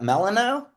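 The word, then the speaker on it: Melinoë: Melanino. Yeah, I mean that's how we say it, but it's a it's a Greek name.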